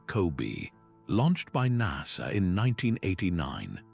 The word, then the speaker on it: COBE: That map arrived thanks to a satellite called the Cosmic Background Explorer or Cove, pronounced Kobe.